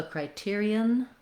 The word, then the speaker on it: criterion: So criterion, criteria. They're actually more similar than they look, because when we see this ON, we might think it might have some kind of on syllable sound, but it's actually quite similar.